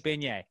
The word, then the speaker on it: beignet: It's pronounced like beignet.